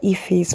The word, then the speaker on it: Ephy: So, my name is Ephy.